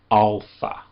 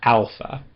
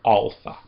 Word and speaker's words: alpha: Instead, it's more of an a sound. So it's alpha, not alpha but alpha.